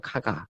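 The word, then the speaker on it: 加賀: 근데 사실은 이게 우리나라 발음 표기라 가가지 네. 사실은 카가거든요. 카가.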